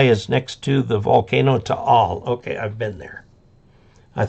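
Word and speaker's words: Taal: the island CU that volcano keeps burping and to all is uh it's spelled ta a l and each a is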